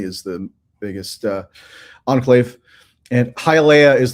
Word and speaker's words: Hialeah: Hialeah, Florida. I made sure I got that pronunciation down because it's not totally straightforward.